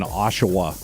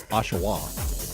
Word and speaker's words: Oshawa: I just like saying Oshawa. Is it Oshawa? Oshawa? Oshawa.